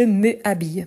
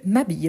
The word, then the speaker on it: m'habille: apostrophe donc je m'habille on ne dit pas je me habille mais je m'habille pourquoi si la règle